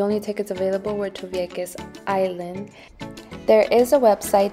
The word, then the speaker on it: Vieques: out, so the only tickets available were to Vieques Island.